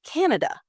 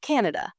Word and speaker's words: Canada: of syllable stress so a lot of students will put the stress on the wrong syllable or they won't put any stress on it so it's Canada it's not Canada Canada sometimes I hear